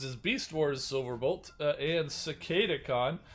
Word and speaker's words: Cicadacon: beast wars silverbolt and cicada khan for anybody who has trouble pronouncing it streaker wasn't it's cicada khan are joining the ranks